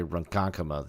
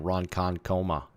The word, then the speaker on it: Ronkonkoma: lot of this stuff i just figured out how to say ronkonkoma the other day i kept saying roncon coma so you'll have to